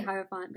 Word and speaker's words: Hierophant: I'm gonna say Hierophant because it sounds like hierarchy.